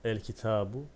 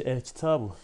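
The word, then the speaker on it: الكتاب: El kitabu kitap. El kitabu olduğunda okunuşunda yazılışında bir değişiklik yine olmayacaktır. El ki tabu. El ki tabu. Lam okundu. Peşine gelen kef ise şeddetsiz okundu.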